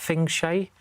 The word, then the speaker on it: feng shui: What's that, feng shui? Is that how you say it? You know, feng shui. That's the one.